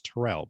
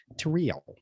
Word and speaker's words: Tyrell: middle name is but my first name is tyrell but she pronounces it tareel oh oh i thought